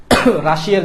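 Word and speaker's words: Russia: Pushkin Alexander Pushkin হচ্ছেন রাশিয়ার জাতীয় কবি আলেকজান্ডার কি পুশকিন রাশার জাতীয় কবি উচ্চারণটা রাশিয়া না উচ্চারণটা রাশা এই যে আমরা যেভাবে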